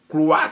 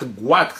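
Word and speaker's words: goitre: Elle souffrait du cloîre. Guîre, ça se prononce guîre. Oui, guîre. Voilà.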